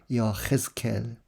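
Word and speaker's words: יחזקאל: 에제키엘이라고 이제 우리말로는 씁니다만 이제 히브리말 발음으로는 여헤스켈.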